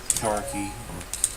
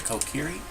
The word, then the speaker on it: Kokiri: The story is that the young boy named Link, canonically, is his mother traveled to the Korki, Korki? How do you pronounce it? Kokiri? The Kokiri?